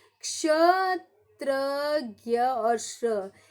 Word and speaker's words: क्ष: ये क्ष, इसका उच्चारण करो क श, क्ष।